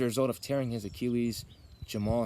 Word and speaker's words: Jamahal: of tearing his Achilles Jamal Hill or as some people like to call him jamaha hill that's kind of how his name is spelled if you read it but it is